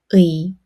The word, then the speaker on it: 의: 의. Let's try it together.의 Now, let's learn the first pronunciation rule.